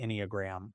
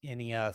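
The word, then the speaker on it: Enneagram: But one of my favorite tools is using the Inog.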